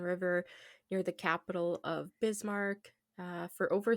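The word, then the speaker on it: Bismarck: I wouldn't have know that that's pronounced bismar would have been like bism.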